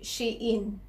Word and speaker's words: Shein: So, hindi pala Shein yung pagkakapronounce doon sa online store na yon kundi Shein, which is She's in Style, kaya Shein.